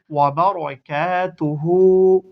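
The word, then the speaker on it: وَبَرَكَاتُهُ: আলিফ জবর কাবার তা উলটা পেশ হবার এক উচ্চারণ করে আসি সালামু ওয়ারাহমাতুল্লাহি ওয়াবারাকাতুহু ওক করলে ওয়াবারাকাতুহ আবার বলি ওয়ালাইকুমুসসালামু ওয়ারাহমাতুল্লাহি ওয়াবারাকাতুহ তাহলে আমরা যখন সালামের উত্তর দিব আমরা সেইভাবে দিব।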